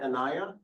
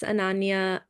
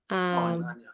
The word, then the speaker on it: Ananya: Am I pronouncing that your name right, Anaya? And Hi, yes, it's Ananya. Ananya, sorry about that.